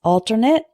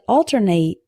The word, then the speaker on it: alternate: is alternate and alternate alternate means an alternative the next option for example we have an alternate plan if this one doesn't work alternate a verb means to switch back and forth between two things I alternated between hope and despair try to say the difference with me alternate alternate the next